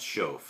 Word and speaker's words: Schoff: In German, it's pronounced Shoaff.